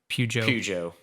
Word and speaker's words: Peugeot: Is it Peugeot, I guess is how you say it, Cadillac, Alpine, or Ferrari? Peugeot.